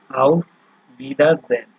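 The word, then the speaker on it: Auf Wiedersehen: আউফ ভিদারজেন, ঠিক আছে, এই যে ডব্লিউ ভি উচ্চারণ হচ্ছে, আউফ ভিদারজেন, আবার দেখা হবে।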